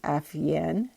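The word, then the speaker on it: Afeyan: ventures it's ceo nubar afiyan um i'm gonna spell that newbar n-o-u-b-a-r last name af-yen a-f-e-y-a-n tried to get bentil to take over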